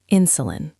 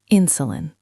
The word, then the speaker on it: insulin: Word two, insulin. Insulin. Stress on the first syllable.